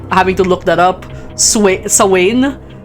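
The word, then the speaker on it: Samhain: Sain like spelled Sam Hayne. I kept that up because it has the word Sam in it and that's my name.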